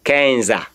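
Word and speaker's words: quinze: The last E is not pronounced. Of course, you should take note again. Last E is not pronounced. Nobody should try to say Kenza, Duza, Onza, Dude. No, no, no. You don't go that way. You only end your pronunciation in the Z.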